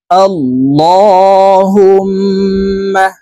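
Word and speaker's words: اللّهُمَّ: আল্লাহুম্মা, এখানে এই লামকে ল বলে উচ্চারণ করতে হবে, কারণ আল্লাহ শব্দের আগের হরফে জবর অথবা পেশ হইলে এই লামকে ল বলে পড়তে হবে, অর্থাৎ মোটা করে পড়তে হবে।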